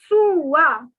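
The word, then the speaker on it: trois: 3 is trua. The S is silent.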